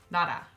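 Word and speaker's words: 나라: Okay, so again, as a review, the first rule was that when lir is between 2 vowels, or between a vowel and a hit, then it's gonna be pronounced as an R. Nara.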